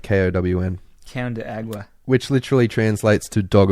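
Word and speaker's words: cão de água: spaghetti on top of it the agua but pronounced town de agua like KO WN can de agua which literally translates to dog of water let's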